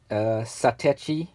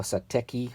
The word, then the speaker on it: Satechi: This is a Satechi or Sateki, however you want to pronounce it, expansion hub.